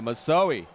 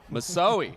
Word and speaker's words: Misoe: Great coverage by number 22 Devon Nafoa Misoe. Misoe. How do you say that name twice, Bo? Yeah, Misoi. Misoi with the dive like Superman dive right there.